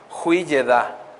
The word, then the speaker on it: Hui-Yedá: por una palabra que se dice bien raro, a ver si lo puedo pronunciar, es Hui-Yedá. Hui-Yedá. Nada de Yedais ni nada de eso, hermanos. Hui-Yedá, ¿ok?